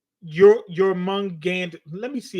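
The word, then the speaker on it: Jörmungandr: It's Jormungandr.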